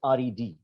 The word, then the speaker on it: read: color red i mean it is pronounced as red okay okay all right